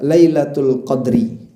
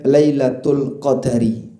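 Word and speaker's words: ليلة القدر: Ada dua cara baca. Anda bisa baca lailatul qadri. Anda juga bisa sebut dengan lailatul qadari.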